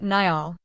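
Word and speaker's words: Niall: He pronounced it Nyall.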